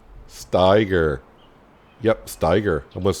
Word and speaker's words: Steiger: It's not Steger, it's Steiger. Steiger. Yep, Steiger.